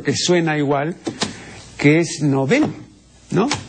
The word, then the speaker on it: Nobel: pronunciación es novel eem efectivamente Estimado Señor la pronunciación es novel así se dice en suo e creo que el uso trasladó el acento de esta palabra que repito en suec es una palabra aguda no este tras el